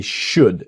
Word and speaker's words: should: So they should. Remember the L in should is silent.